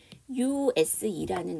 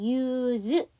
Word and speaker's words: use: S 발음이 다르기 때문에 그래요. 우리가 보통 단어가 SE로 끝났는데 명사나 형용사가 됐을 때랑 동사가 됐을 때의 S 발음이 달라요. 명사나 형용사가 되면 그거는 스 발음이에요. 동사가 되면 즈 발음이에요.